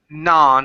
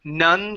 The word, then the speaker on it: non: the other we and we say non instead of none Korean it is ah